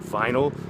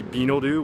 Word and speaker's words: vinyl: For example, if you said the word vinyl, they would say binoru, which is completely wrong, and nothing progresses.